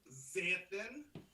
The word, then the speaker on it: Xanthan: and I says, ma'am, the X is pronounced as a Z, Xanthan. And I says, if you had any intelligence, you would go to the back of the dictionary, and you see that all the words in the back of the dictionary start with the letter X, but they're pronounced with a Z.